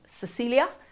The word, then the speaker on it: Cecilia: hello my name is Cecilia which can also be pronounced ch chilia that is because my family come from slam I grew up in